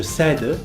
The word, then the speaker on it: cède: a qu'une petite exception il ya certains verbes du premier groupe qui montre des changements un peu particulier dans la prononciation et l'orthographe je vous parle des